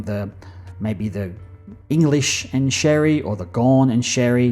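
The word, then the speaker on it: Xerri: sounds that way um it's x e r i even though it's pronounced Sherry uh so yeah he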